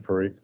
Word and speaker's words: Parikh: Parikh? Is that correct So pronunciation?